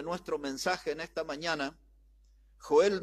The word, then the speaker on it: Joel: Y en realidad se pronuncia Joel, así se pronuncia, Joel.